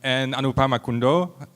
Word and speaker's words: Anupama Kundoo: And Anupama Kundoo, do I pronounce that right? Yeah, that's great.